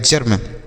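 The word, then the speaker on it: germ: अब यहाँ पर है ई के बाद आर है तो ई का उच्चारण अ के रूप में, तो जी से पढ़ेंगे ज, ई का उच्चारण अ के रूप में, आर से र, एम से म, यह ऊपर लगाएंगे, लिखा गया है जर्म।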